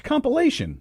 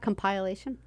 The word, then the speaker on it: compilation: compliation what do you how do you say it it's compilation compilation not compliation compile asian oh I got it